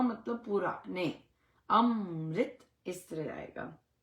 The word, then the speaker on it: अमृत: वो है अमृत अमृत अमरत नहीं कहां लिखा है अमरत कहां लिखा है अमृत अमृत अमृत म आधा है अमृत अमृत सो अमृत